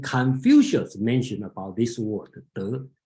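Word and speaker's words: 德: If you recognize Chinese word called De, okay, the pronunciation is De.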